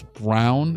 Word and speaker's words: Braun: of Christian Braun, but they kept on making it a point to say that it's Brown.